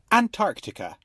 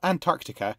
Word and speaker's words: Antarctica: The word was originally pronounced with the first C silent in English, but the spelling pronunciation has become more common and is often considered more correct. However, the pronunciation with a silent C, and even with the first T silent as well, is widespread and typical of many similar English words.